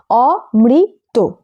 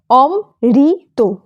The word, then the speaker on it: অমৃত: করে ফেলে কথাটি হল অমৃত এখানে মৃত স্বরবর্ণের ঋ যুক্ত তাই এটি মুক্ত দল কেউ কখনো অম ঋত এরকম ভুলে উচ্চারণ করো না নয়ন থেকে নয়ন শব্দটিতে